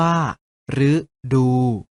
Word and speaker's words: ฤดู: หรือ กัน นะ ครับ รึ อยู่ หน้า คำ เช่น ฤดู ออก เสียง ว่า ฤดู หรือ ตาม หลัง คอ